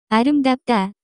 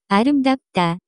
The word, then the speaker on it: 아름답다: The pronunciation of this word is closer to 아름답다. 아름답다.